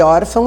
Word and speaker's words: órfão: Porque se tivesse te dado a palavra órfão, você já enxergaria que o tio não marcou a sílaba tônica de órfão é or.